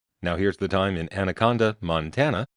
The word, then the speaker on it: Anaconda: Now here's the time in Anaconda, Montana, which some people pronounce Andaconda. I don't know why the duh gets in there, but, well, anyway, this